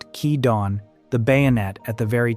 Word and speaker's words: Kidon: is the story of Kidon, pronounced Kee-dawn, the bayonet at the very tip of the spear.